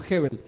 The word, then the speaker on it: Gebel: él dice dice que no se dice goebbels sino hebbel entonces la mejor pronunciación